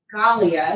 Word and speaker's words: Gallia: Chris Wood of Decaffeinated, Julie Gallia is how she pronounced her name when I heard her